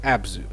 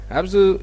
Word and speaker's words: Abzu: how to pronounce but I think the best way to call it is abzu abzu is developed by the